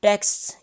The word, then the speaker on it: texts: We don't pronounce it the way just I did, so we say t, e, k, s, t, s, like this.